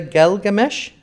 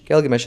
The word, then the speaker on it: Gilgamesh: it's great can you can you open the galgamesh is that at the beginning Gilgamesh is the correct pronunciation that's a one-on-one toy oh that's one-on-one